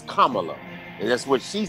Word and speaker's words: Kamala: say it's it's um it's like the punctuation comma so it's kamala and that's what she